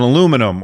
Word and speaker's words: aluminum: a magnesium alloy to an aluminum or aluminium, wherever, it depends on where you are, how you say it.